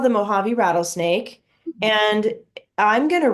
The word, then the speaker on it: Mojave: actually a Spanish word in Spanish the J makes the H sound I don't know if you knew that but this is pronounced Mojave and have you ever